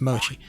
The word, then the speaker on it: Mochi: I think that's how she wants her name pronounced. It's Mochi.